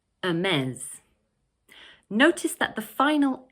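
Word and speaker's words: Hermès: Okay in this next brand we don't pronounce the 'h' at the beginning of the word like in French actually.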